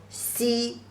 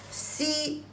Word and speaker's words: 西: So the pronunciation of this west direction is also si, e, si, first tone, means west. Si, I have just said, Chinese people prefer the east direction.